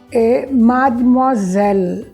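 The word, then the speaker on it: mademoiselle: a palavra mess e madmazel a gente não diz o é também a gente eleva a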